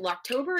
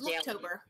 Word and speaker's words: Looktober: some people doing the, is it Locktober? Is that how you say it? It's the makeup October. Where it's Looktober. Looktober. Looktober, that's what it is.